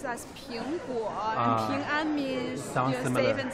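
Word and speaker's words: 苹果: Ping'an, because apple in Chinese pronounces as Ping'guo, and Ping'an means safe and sound, so it represents the safety.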